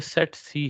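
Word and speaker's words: tsetse: ये सेट सी है, ठीक है। इसमें सी जो है वो साइलेंट है इंग्लिश के अकॉर्डिंगली।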